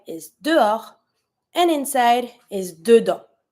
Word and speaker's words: dedans: And to say inside, dedans. Same thing, you don't pronounce the S.